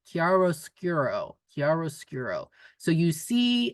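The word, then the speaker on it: chiaroscuro: word meaning um light and dark and it's pronounced kiaro skuro karos skuro so you see in socialist realism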